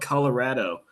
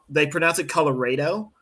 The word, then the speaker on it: Colorado: There's a river that's spelled Colorado, but they It's like pronounce it Colorado.